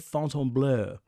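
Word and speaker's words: Fontainebleau: lot of comments like stop calling it fonton blue fonton blue I mean the F the French pronunciation of that is correct the way I'm doing it but anyways uh it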